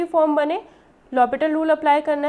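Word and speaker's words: L'Hôpital: ये जो स्पेलिंग होती है ना, इसमें ये एस नहीं होता, ठीक है, इसलिए से l'Hopital रूल बोलते हैं, और एच साइलेंट होता है।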